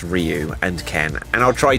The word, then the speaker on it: Ryu: hear Sagat or Sagat if you want to pronounce it in the most obvious English language way say rayu so yeah I say rayu but it's Ryu and Ken and I'll try to get it